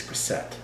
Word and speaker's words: Grisette: It's a double T. It's Grisette.